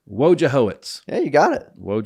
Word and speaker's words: Wojciechowicz: Fortune nobody would win so how do you pronounce it perfect WJ hoitz WJ hoitz yeah you got it woit that was my